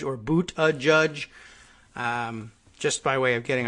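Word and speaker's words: Buttigieg: so Abu Abu the judge chicken father a Buddha judge and you can see how that would be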